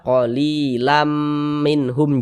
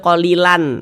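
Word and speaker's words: قليلا منهم: Kita baca qalilam minhum, jangan dibaca qalilan lan.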